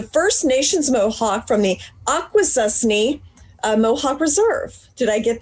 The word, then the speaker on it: Akwesasne: This is Jayocee, and the First Nations Mohawk from the Akwesasne Mohawk Reserve. Did I get that pronounced right?